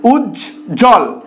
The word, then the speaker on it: উজ্জ্বল: কিভাবে উচ্চারিত হচ্ছে উচ্ছষিত উজ্জ্বল বানানটা দেখো বর্গীয় জয়জ একসাথে রয়েছে তার সাথে আবার ব ফলা যুক্ত অবস্থায় রয়েছে এটা কিভাবে উচ্চারিত হচ্ছে উজ্জ্বল তো এক্ষেত্রে কিন্তু বটা উচ্চারিত হচ্ছে না সান্তনা এই বানানটায় দেখো